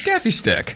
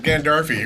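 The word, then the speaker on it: Gaffi stick: Now, do you pronounce it Gaffy stick or Gandalfi stick? Oh, Gaffy for sure. Yeah, it's Gaffy stick. I've heard Gandalfi. I don't know where it came from. Who's adding consonants?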